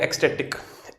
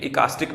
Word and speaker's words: ecstatic: ठीक है, तो ये हमारा जो है एक एडजेक्टिव है, इसको बोलते हैं एक्सटेटिक। एक्सटेटिक, ठीक है, इकास्टिक मत बोल देना।